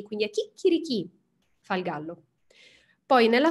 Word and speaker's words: chicchirichì: succede quando noi diciamo chicchirichì dobbiamo fare attenzione all ovviamente ma alla pausa prima delle 2 c e al fatto che l'accento va alla fine l'accento sull'ultima e quindi a chicchirichì fa il gallo poi